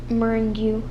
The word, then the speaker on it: meringue: so devotion position anonymous meringue meringue meringue yep meringue like lemon meringue pie anchor and lesser leisure